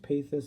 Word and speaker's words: pathos: lesson on pathos today it's pronounced pay this but I've always said pathos so I'll probably go